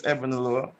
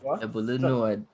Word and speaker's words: Ebunoluwa: My name is Ebunoluwa. I am my. Hey. Got that? Right. Hey. Greatness. Can you pronounce that though? Nah, Ebunoluwa.